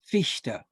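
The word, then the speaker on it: Fichte: it's uh johann gottlieb ficta i believe oh right good german pronunciation was it yeah johann gottlieb or fishta almost an sh but it's more of a sh fishta good job yeah so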